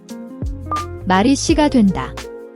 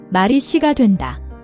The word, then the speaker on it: 말이 씨가 된다: The SSI sound is a tense S, not a soft SH. Press your tongue firmly behind your front teeth and push air out without any H sound.